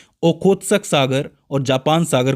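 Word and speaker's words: Tsugaru: इसके बाद आता है सुगारू स्ट्रेट। इसके अंदर टी साइलेंट है। याद रखना है आपको।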